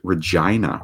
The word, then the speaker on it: Regina: Fun fact, in Canada, there is a major-ish city with the same name, but it is pronounced Regina.